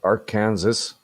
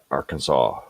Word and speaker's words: Arkansas: it's actually said uh arkansas uh how does that work well that is silent yes are kansas you mean arkansas or arkansas yeah some weirdos don't like to pronounce the s there's no [ __